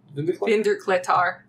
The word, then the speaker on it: Vindurklettar: Vindurklettar.